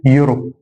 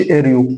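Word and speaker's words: Euro: طيب القاعده الشهيره ان الاي لما يجي في اول الكلمه ويجي بعدها حرف اليو الاي ما بنطقش، اليو تخلي الاي ما تنطقش، فهنا اقول يورو ما اقولش اريو اقول يورو يورو.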